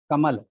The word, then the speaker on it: कमल: कमल का जब आप उच्चारण करेंगे तो का और मल के बीच में एक नन्हा सा विराम होगा, बहुत नन्हा सा। कमल। और अगर वो विराम माँ के बाद देना चाहें, कम को एक साथ पढ़ें और ला को एक साथ पढ़ें तो उच्चारण नहीं कर पाएंगे। कमल का उच्चारण कभी कमल नहीं होगा, कमल का उच्चारण सदैव कमल होगा, कमल।